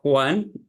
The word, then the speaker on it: Juan: first name yes it's Juan Juan like J like H in Spanish right okay with s